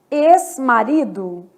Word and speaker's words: ex-marido: X com som de S. ex-marido.